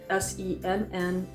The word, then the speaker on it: Sennelier: able to see it but it says sennelier s-e-n-n-e-l-i-e-r this is um the one I take with